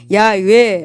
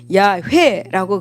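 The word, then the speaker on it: 야훼: 이름을네 개의 자음음 이렇게 어 이루어졌습니다 따라서 본래의 발음은 야외 혹은 야외라고 그렇게 발음합니다 하지만이 고대 히브리인들은 출애굽기 20장 7절에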